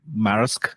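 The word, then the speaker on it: Maersk: have you heard of this company called Mar marisk if I pronounce it correctly marisk m a e r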